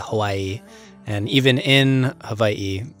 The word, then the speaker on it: Hawaii: weigh what so the proper pronunciation is Hawaii actually it's very common for people to say Hawaii and even in Hawaii